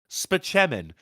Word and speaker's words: Spaceman: look at this it's Dr Spaceman for $12 says pronounced span I too am a